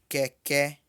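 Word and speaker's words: kẹ̀kẹ́: Note que as duas vogais são E, porém uma é mais baixa que a outra. A que tem acento para trás é mais baixa do que a segunda que tem acento para frente.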